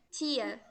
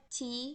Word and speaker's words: tea: Chá não se pronuncia tia, tá? Se pronuncia tea mesmo, tá? Aquela letra A ali, ela não tem. É como se ela não tivesse o som, né, do inglês.